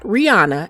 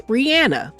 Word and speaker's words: Rihanna: Rihanna's real name is actually Robin Rihanna Fenty. It's not Rihanna, it's Rihanna. And she has said often